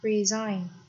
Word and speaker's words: resign: Okay, next we have resign. Resign, từ này trọng âm ra đoán tiếp thứ hai.